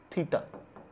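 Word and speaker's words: theta: सो let angle ACB बी = थीटा इट is pronounced as थीटा द spelling is here तो bye angle sum property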